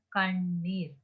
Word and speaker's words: கண்ணீர்: இந்த இடத்துல பாருங்க, நான் இதை எவ்வாறு வாசிக்க வேண்டும் சொன்னா கண்ணீர். அதாவது 3 சொல்லி வரும்போது நாங்க நாக்கை நல்லாக பின்னோக்கி மேல்தாடையோடு ஒட்டியவாறு கண்ணீர் அப்படின்னு சொல்லி வாசிப்போம்.